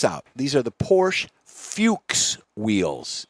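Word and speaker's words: Fuchs: These are the Porsche Fuches wheels. It's spelled different, but it's pronounced Fuches.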